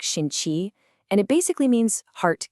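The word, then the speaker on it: 心气: It's called Xin-Qi, that's pronounced like Shin-Qi, and it basically means heart ki or heart energy.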